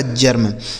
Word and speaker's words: germ: आगे GERM, तो जी से हो गया दोस्तों ज, ई का उच्चारण ए हो जाएगा, आर से र और यम से मैं, यह लिखा गया आपका जर्म, इसे पढ़ा जाएगा जर्म।